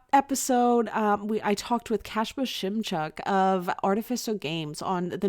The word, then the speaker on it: Kacper Szymczak: This episode we I talked with Kacper Szymczak of Artificial Games on the new game they came up with called Minos.